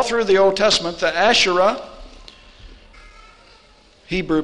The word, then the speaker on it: Asherah: see it all through the old testament the asherah hebrew pronunciation would be ash a-s-h-e-r-a-h and ashtoret ash